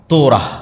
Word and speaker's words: তোরাহ: যখন তাওরাত দেওয়া হলো তোরাহ বলে ইহুদিরা উচ্চারণ করে যে তোরা যখন তাওরাত দেওয়া হলো